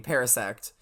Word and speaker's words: Parasect: a very interesting pronunciation normally the pronunciation would be Parasect um but essentially yes